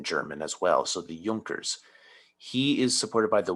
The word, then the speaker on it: Junkers: of prussia and he is supported by the yonkers because jays are pronounced like wise in german as well so the junkers he is supported by the wealthy land owning